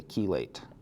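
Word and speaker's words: chelate: And we would also classify this as a keelate. This is the same sound as in chemotherapy.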